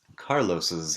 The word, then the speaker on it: Carlos's: Carlos's hair is black. Fíjate que sigo pronunciando como una doble S.